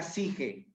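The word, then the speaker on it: ψυχή: palabra es suche se escribe suche pero se pronuncia sige que significa mente alma de ahí sale Dee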